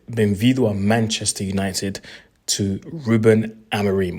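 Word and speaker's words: Rúben Amorim: Welcome to Manchester United, or should I say, bem-vindo a Manchester United, to Ruben Amorim, or if you want the Portuguese pronunciation, is Ruben Amorim.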